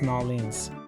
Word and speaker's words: New Orleans: It's pronounced New Orleans.